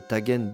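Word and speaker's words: طاجن: D'ailleurs, en Égypte où le “j” arabe est prononcé “gu”, on trouve le tagen bamya un tajine, un ragoût aux gombos.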